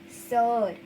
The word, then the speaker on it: sœur: E, U, R, sir.